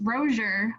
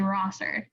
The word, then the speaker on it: Rozier: people, even though because it's pronounced Rozier, like with an H, but people say Rosser. Or even kind of like with some people might think it's like a Z.